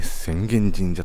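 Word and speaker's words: 浅間神社: 隣にはえ宣言神社ということで浅間神社と書いて宣言神社と読むというこういう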